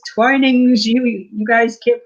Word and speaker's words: Twinings: He That's says it's Twinings. Twinings. Okay. The second pronunciation, Twinings.